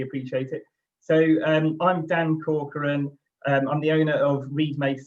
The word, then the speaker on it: Corcoran: Is that how I pronounce it, Dan? It's close, it's Corcoran.